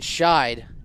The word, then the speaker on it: Scheid: It'll bring up Kyson Scheid. Was pronouncing it Sheed earlier.